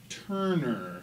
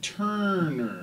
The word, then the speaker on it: Turner: pronouncing that right Frank Turner uh yeah I mean that's that's a harder R than I would use myself but I'm I'm I'm down with the American accent okay good yeah well